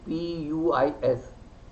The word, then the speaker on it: puis: We have a word P-U-I-S, puis. The last consonant is generally not pronounced if it is not followed by a vowel.